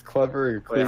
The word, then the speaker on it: Clevr: Know how to pronounce it. It's Clever.